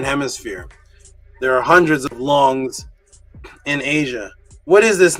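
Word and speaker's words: 龙: The Hunya Pinyin, which is the pronunciation in Mandarin, long.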